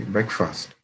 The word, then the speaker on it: breakfast: okay, breakfast. Noted. Breakfast. First. Not fast. First. Breakfast. Okay, breakfast.